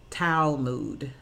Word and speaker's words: Talmud: old Jewish scripture book tal mu D and it pronounced foul mood and once again in